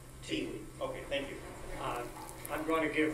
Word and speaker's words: Thi Le: For the record, my name is pronounced T. Lee.